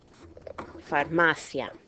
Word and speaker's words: farmacia: Okay, we can't break that diphthong there because it's a combination of a weak and a strong. So where's my stress? Second to last syllable. That's why this word is pronounced farmacia.